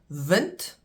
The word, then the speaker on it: wind: Vent and wind spelled the same pronounced differently.